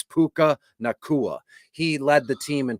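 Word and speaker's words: Puka Nacua: I know it's how you pronounce it. It's Puka Nakua.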